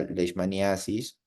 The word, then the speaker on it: leishmaniasis: Ustedes pueden llamarlo también leishmaniosis. Ambas formas de pronunciar o de escribir son correctas, ¿de acuerdo? Entonces, ustedes van a encontrar en sus libros de parasitología leishmaniasis o leishmaniosis.